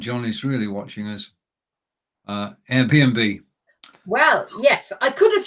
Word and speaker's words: Airbnb: Flats via Airbnb so airbnb.de I think that's the website and you would find it there as well okay and the pronunciation is Airbnb it's the English word Airbnb yeah okay all right